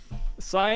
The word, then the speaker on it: Syv: It's actually Sai, but people call it Civ, and I'm totally cool with that. Sive? Sai. Yeah, just Sai. S-Y. Remove the V. Yeah, remove the V. V is silent.